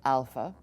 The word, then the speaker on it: alpha: just so we're clear the long version of Alpha we'd have a line on top it would sound like the a in father the short a has no nothing on top of it we'll use the word drama to distinguish and probably to help